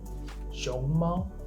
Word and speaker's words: 熊猫: The simplest one is for example, 熊猫, 熊, rising tone, 猫, the flat tone. If you say it like this, that means panda.